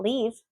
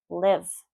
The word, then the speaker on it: live: Ship, ship, bit, bit, live, live, not leave, live, live, sit, sit, fit, fit.